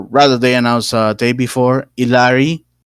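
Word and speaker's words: Illari: On Thursday, they announced, or rather, they announced day before, Ilari, or Iliari, if I want to pronounce it correctly, the new hero for Overwatch.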